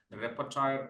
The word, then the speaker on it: repertoire: and performed an impressive repertoire of classical and contemporary works that have captivated audiences worldwide. That's a French word and I pronounced it wrongly. Repertoire, actually it is.